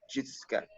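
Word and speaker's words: Xiuhtezcatl: Enter his name and an Aztec word pronounced Chitscat.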